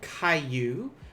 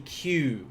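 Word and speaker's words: 九: Be careful with this this sound here. This is actually 1 syllable in Japanese. It's not kayu, which is 2. It's going to be Q, which is only 1.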